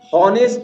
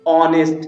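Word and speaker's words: honest: Example आपके सामने, ये ओ के पहले आया, ये एच साइलेंट हो चुका है, लेकिन यहां पर हॉनेस्ट नहीं है, हॉनेस्ट नहीं है, ये क्या है, ऑनेस्ट है।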